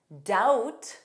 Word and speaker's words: doubt: Notice that B does not exist in pronunciation. Debt, doubt, subtle, subtle.